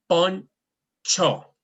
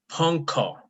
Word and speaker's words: poncho: at the beginning, but whenever it's beside a C, it takes a sound. It makes the sounds of che.